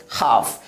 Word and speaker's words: half: नियम है कि लेटर L जो है F के पहले आए तो L की प्रोनाउंस नहीं होती है, यानी L साइलेंट हो जाती है, तो इसे क्या पढ़ेंगे? हाफ।